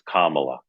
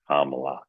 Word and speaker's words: Kamala: A lot of Republicans say it incorrectly on purpose, but it's Kamla. Kamla.